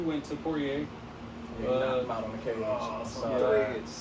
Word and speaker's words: Poirier: We got Poirier. Is that how you say it? Poirier, yeah.